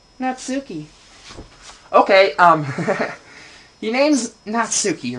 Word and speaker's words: Natsuki: oh my gosh what is your name not sookie okay if your name's not sookie then what the heck is it natsuki okay um i got a great idea what